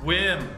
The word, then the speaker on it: WiiM: Wii in streaming audio it's actually pronounced whim wait what wow I was stoked when Wim contacted me about sending